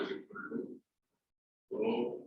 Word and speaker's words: rho: So combining, that is R is proportional to L upon A, or R is equal to rho L upon A.